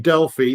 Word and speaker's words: Delphi: I've been saying it dely since 199 something so uh since the very first day so I I uh the official a pronunciation guide is you can say it either way.